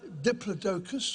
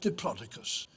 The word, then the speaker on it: Diplodocus: There are two ways of pronouncing its scientific name. It's either Diplodocus or Diplodocus.